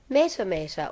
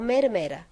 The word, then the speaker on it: Matamata: living in Matamata and hearing everyone call it Matamata or Matamata. So if she's grown up hearing the sound mata pronounced as mata, of course she's